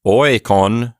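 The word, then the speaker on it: οἶκον: sure, that makes sense, because oikon, accusative singular, has an omicron in that last syllable. It's short. But oikon, the genitive plural form, has that long vowel in the last syllable.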